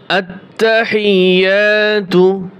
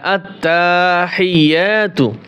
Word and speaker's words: আত্তাহিয়্যাতু: আত্তাহিয়াতু, এই শব্দটার ভিতরে আমরা যে ভুলগুলি করে থাকি, এখানে অনেকেই টান দেয় আত্তাহিয়াতু, যে আত্মা তাই টান দেওয়া যাবে না।